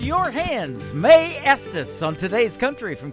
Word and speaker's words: Mae: But her name, Mae, is spelled M-A-E.